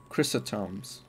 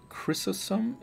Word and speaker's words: Chrysostom: John Chrysostom's. Is that Chrysostom? Chrysostom's book. St. John Chrysostom's. Chrysostom's. Yeah, wow. Great pronunciation.